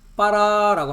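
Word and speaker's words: ברא: 히브리어에서의 창조는 어 히브리어로 발음은 빠라라고 합니다.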